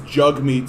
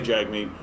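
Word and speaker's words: Jagmeet: the man's name is jugmeet singh he's got it on his twitter even where he's like jug me pronounced like hug me right and so he knows that people say jag mean i've been told by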